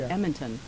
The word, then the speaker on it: Edmonton: alberta from both no i just like how calga calgary calgary is pronounced differently than how it's spelled and edmonton is pronounced different it's like we can't put consonants in there or something when you're from alberta i